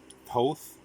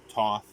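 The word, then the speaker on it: Thoth: The Ring of uh, Toth, Toth, Tot, however you want to pronounce it, because uh, it's unknown how it was pronounced in ancient Egypt, so you can pronounce it however you want. Any one of those three is fine.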